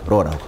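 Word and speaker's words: ρ: 계수 이것을 읽을 때 우리가 어 요렇게 로라고 읽어요 로라고 알겠죠로 그리스 문자 로고 영어로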